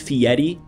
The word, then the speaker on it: Fieri: Fieri yeah like guy you know that's actually pronounced Fieri no way yeah it's Italian I think Fieri wow I'm from I'm